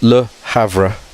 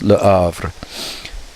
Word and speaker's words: Le Havre: Okay, so French often don't pronounce the H, but it's, so you would think it's Le Havre, but it's Le Havre.